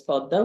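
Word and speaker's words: Padma: it traverses the podda it's written in English p a d ma a but in Bengali it's pronounced as podda which is about 75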